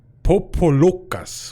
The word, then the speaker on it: Popolocas: This bit, this the Locas Popolocas. So yeah, That totally could be Pocahontas. It's pronounced Sokal Popolokas with an emphasis on the lo.